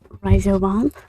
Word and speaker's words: Ryzovahn: Well, obviously, my name is Ryzovahn. Yes, that is the correct pronunciation of the word that I myself made up.